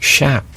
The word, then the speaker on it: chaps: Actually pronounced shap. Oh, are they, Frank? I was told that by a cowboy in Montana.